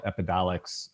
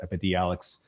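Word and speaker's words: Epidiolex: approved cbd medicine it's called epidolics i always mispronounce it epidealics which is basically pure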